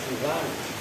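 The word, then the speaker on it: سِوى: lafaz Siwan lafazwanasri sini dengan dibaca kasrah sinnya Wal qasri dan membaca qasor pendek nanti ada pembandingnya dibaca lafaz Siwan yang Bil khasri haridon seperti ridon kan kalian kalau baca R yard Rid Iya kan Nah Siwan bahasanya seperti ee Siwan bacanya seperti ridon ditanwini dengan tanwin waazami dan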